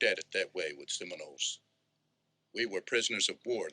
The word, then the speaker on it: Seminoles: Seminoles.